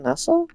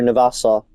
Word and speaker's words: Navassa: Wait, is that Nassau? Oh, Navassa. Navassa. I'm calling it Nassau because that's how they pronounce the town, and that's spelled very, very similar.